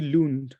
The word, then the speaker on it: Lon: I comfortably call you you can just call me lon l okay L Lon great I will call